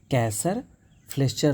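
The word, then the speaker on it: Kayser-Fleischer: KF ring का मतलब होता है कैसर फ्लेसरिच क्लैसर फ्लेस्चर क्लैसर फ्लेस्चर, ये सही प्रोनाउंसिएशन हुआ। कैसर फ्लेस्चर रिंग जो होती है वो हमें देखने को मिलती है, और सनफ्लावर कैटरैक्ट भी देखने को मिलता है।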